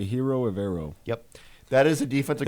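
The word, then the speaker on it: Ejiro Evero: I'm going to say Hiro Evero.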